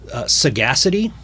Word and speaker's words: Sagacity: Sagacity, or Saga City, depending on how you want to pronounce it, from 2014, and Full Circle from 1999.